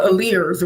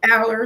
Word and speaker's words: Aller: say you, Rochelle, and I always say her last name wrong, right? Rochelle Alice. Yes, I used to call her Alears, right? And they were like, "Girl, that's not." Aller.